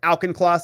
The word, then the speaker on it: Auchincloss: That's how you say his name, right? Auchincloss? He says, yeah.